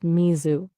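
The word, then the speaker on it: 水: Japanese is Smi. That's pronounced Mizu.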